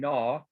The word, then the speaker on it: gnaw: differently yep and then same thing with the word gnaw okay again pronounced just like a straight up n so all three